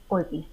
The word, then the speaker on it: Orpi: How do you pronounce that? Orpi.